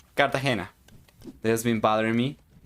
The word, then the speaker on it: Cartagena: me how the Colombian city of Cartagena is pronounced Cartagena that has been bothering me yeah yeah yeah